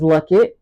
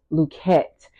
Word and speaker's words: Luckett: coming up it was Luckett uh and I still go by Luckett you can say the lucky Paradigm but started to do the real pronunciation of the name because the e was dropped so the name is